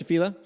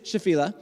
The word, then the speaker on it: Shephelah: it throughout this time it is shephelah uh i will probably say shephelah because that's kind of how i first heard it or shafila that's that's not right either shephelah okay so anyways